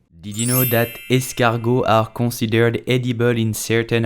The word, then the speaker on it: escargot: i'm talking about snail so how do you pronounce snail in french with the correct accents you will say escargot escargot did you know that escargot are considered edible in certain areas such as